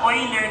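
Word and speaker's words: Euler: s constant or number Bakit siya oiler kasi german yyan german na word kaya oiler constant yung pronunciation Okay so ano yung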